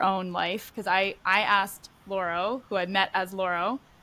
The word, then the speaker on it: Lauro: I grew up here and in the States, and like my name is like Laurel. Like that's like how you pronounce it in English, but how you pronounce it in Spanish, it's Lauro.